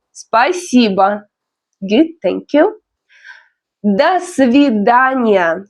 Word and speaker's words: Спасибо: Спасибо, the stress is on I.